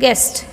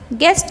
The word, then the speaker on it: guest: silent letter next get guest guest in guest U is a silent letter U is a silent